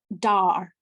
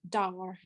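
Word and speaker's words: Duir: And oak is pronounced dar, like Dartmoor, dar, and it's spelled D-U-I-R.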